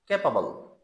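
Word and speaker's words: capable: नहीं बोलेंगे इसी तरह ऊपर लफ्स आया था ए बी एल ई सी ए पी ए बी एल कैपेबल कैपेबल वो भी एबल नहीं पढते उसको अल बोलते हैं तो आज की इस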